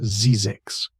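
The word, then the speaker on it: Zzyzx: The Mojave Desert, particularly the area around Zizzix, pronounced Zizix, became legendary for massive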